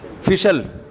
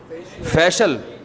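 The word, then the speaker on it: facial: फिशल फिशल फिशल फैशल अबे सही pronunciation बुलवाया करो। फिशल ना फैशियल ये अमेरिका से आए हैं। ये सही बताएंगे। जी? फेशियल फेशियल फेशियल यह अमेरिका से आए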